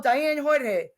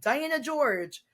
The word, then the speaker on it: Diane Jorge: moment report they're like oh Diane Jorge or if they mispronounce my name Diana George and I'm just like